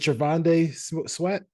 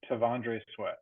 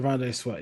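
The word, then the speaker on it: T'Vondre Sweat: Is it Trevande Sweat? Trevande Sweat? How you say it? Is that how you say it? Tavondre Sweat. Yeah. Tavondre Sweat.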